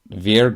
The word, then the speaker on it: vier: And in German, that's pronounced Vier group. So this group is often denoted as V4. For the Vier group, or some texts use K4 for this group.